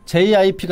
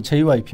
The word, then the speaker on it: JYP: 어 JP 많이 올랐던데 jip 아니고 JYP window JP네 발음 좀 조심해 주시고요 조심해 주세요 아